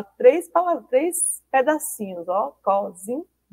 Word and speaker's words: cozinha: ter o meio H se a gente tirar o h para ficar cozinha na né e não é cozina é cozinha por isso que precisa da